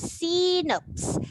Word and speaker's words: xenops: we put it okay this is c notes and it has the x sound in the beginning and this frog this